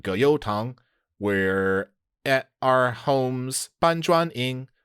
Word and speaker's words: 葛优躺: Did you pronounce tǎng as the second tone? Yes. Oh, no, I'm sorry. It's the third tone. Oh, 葛优躺. Yeah, 躺.